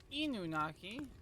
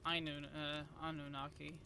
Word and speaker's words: Anunnaki: near great hmm uh by the way I mispronounced that it's inunnaki not Inu Anunnaki I wait I'm too